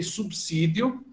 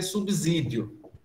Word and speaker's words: subsídio: Você tem subsídio, e eu ouço muita gente, inclusive professor universitário, dizer subsídio. Mas não tem um I ali para justificar. É porque a gente não gosta desse B sozinho ali, bota uma desgraça do I. Então, subsídio. V com o B sem I, mas pronuncia o I e transforma o S em Z, o som, né?